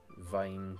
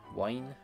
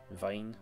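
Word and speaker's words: Wien: Wine? No, it's not Wine. Vine, like V I Geography or pronunciations of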